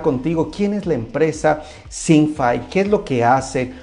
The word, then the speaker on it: Syncfy: Sí, es ThinkFi. ThinkFi. Sí, digo, como quiera, digo, se puede pronunciar como le entiendan, ¿verdad? Pero es ThinkFi.